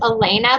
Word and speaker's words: Alana: My middle name is pronounced Elena, but it's spelled kind of wonky.